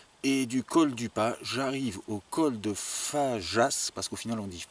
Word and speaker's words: Fageas: J'ai pu parler avec un chasseur qui m'a bien dit que c'est le col de Fajas qu'on dit, et pas Fagas ou Fageas, parce que ça s'écrit F-A-G-E-A-S.